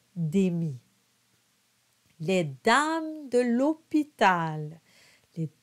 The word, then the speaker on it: démit: Just make sure you don't pronounce the T at the end of démit.